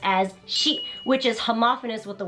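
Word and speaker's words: 四: Japanese superstition because the number 4 can be pronounced as shi, which is homophonous with the word for death.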